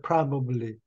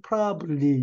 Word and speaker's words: probably: 스토리텔러 최선의 이야기꾼이었다 아마도 probably 이거 이게 발음이 probable인데 영하는 사람들이 발음 실수를 많이 해요 뭐라고 그러는 거니 프라블리 이렇게 얘기합니다 그러면 안 돼요 아 마 동사도 끝내지